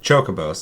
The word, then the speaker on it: Chocobo: Yeah, I knew a guy in middle school, and he's like, it's Kokobo.